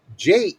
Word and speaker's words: Geepers: And then in parentheses, pronounced Jeppers.